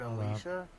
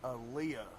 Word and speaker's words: Aaliyah: I think I said Alicia. I completely read your name wrong. Oh my gosh, I was so embarrassed. You killed me. Anyways, Aaliyah, dude, I I don't know what I was tripping.